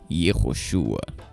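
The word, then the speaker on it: יהושע: O nome termina com a consoante gutural Ain, acompanhado de um patar furtivo, que dita a pronúncia final em Ua, ficando assim Yehoshua.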